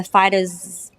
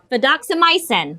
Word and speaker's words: fidaxomicin: So you may notice the metronidazole, the oral vancomycin, or the fidaxocimin . Fidaxomicin. (laughs) you guys know what I'm talking about My ID doctor told me how to pronounce this again. Fidaxomicin, that's it.